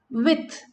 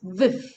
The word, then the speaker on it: with: Then in Cockney accent, with is pronounced viv. Okay, viv. Not with, it's viv.